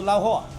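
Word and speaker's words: 捞货: 湖州特色小吃捞货，捞货。捞货不是捞户。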